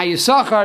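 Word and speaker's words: יששכר: Now Yisachar is spelled Yud, Shin, and a second Shin. But the second Shin is silent. We do not pronounce it.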